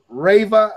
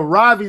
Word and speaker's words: Ravi: I keep Rava, how you say his name? Zacharias. Robbie Zacharias. Yeah, Ravi Zacharias was telling a story, but he was